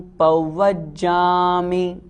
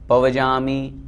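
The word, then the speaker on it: पव्वज्जामि: आगे, चत्तारि शरणं पौवज्जामि, शुद्ध उच्चारण करें, पौवज्जामि। बहुत से लोग पौवज्जामि पवजामि इस तरह बोलते हैं, वो अशुद्ध हो जाता है।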